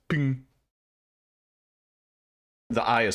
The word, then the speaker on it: PNG: background is transparency right it's pronounced ping no man it's pronounced ping the eye is silent